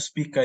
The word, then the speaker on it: Spica: Yang selanjutnya ada KRI Spica atau Spika ini bacanya.